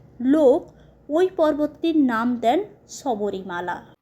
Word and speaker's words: Sabarimala: সবরীর এই অতুচ্চ ভক্তির স্মরণে সেই সময়কার লোক ওই পর্বতটির নাম দেন সবরিমালা। আর মালায়লামে এর উচ্চারণ হয় সাবরিমালা।